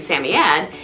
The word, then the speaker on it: Samoyed: pronunciations for their name the way that i pronounce her name sammy samyad is based on my influences which are with the professional dog show circuit in the united states now i have been